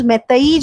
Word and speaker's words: Meitei: मैतेई जो है MEITEI, ये स्पेलिंग्स होंगे, और MEITEI इसको अलग से भी प्रोनाउंस करते हैं, मैथलियन भी कहते हैं, MEET TEILON.